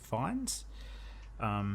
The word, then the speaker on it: Fiennes: film about 9/11 by Joseph, I think you pronounce it Fiennes. Is it Joseph Fiennes?